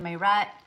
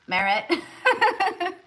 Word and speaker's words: Merritt: Seven Merrat. I mean Merritt.